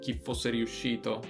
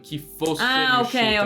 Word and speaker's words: chi fosse riuscito: L'unica cosa adesso hai detto chi fosse riuscito, però non è naturale come accentazione, perché dici chi fosse riuscito, non chi fosse riuscito.